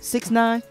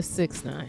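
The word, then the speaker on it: 6ix9ine: this to shocky well how do you say his name six nine just a six nine okay Takashi six nine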